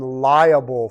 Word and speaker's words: liable: I'm liable for a tort, L-I-A-B-L-E. That means I'm responsible. Not the same, the two different words here. I say them the same, pronounce the same.